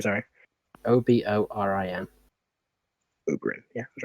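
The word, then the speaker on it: Oborin: say his name or oberyn's name sorry o-b-o-r-i-n o ubering yeah that's right yeah look when you say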